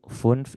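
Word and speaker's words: fünf: Jadi kalau misalnya angka 5 bagaimana bacanya? Ee ada i-nya di depan funf ya. Kalau yang baru belajar boleh terdengar dua huruf dulu ya. Funf. Funf. Cuman aslinya sih harusnya satu kali suara aja ya.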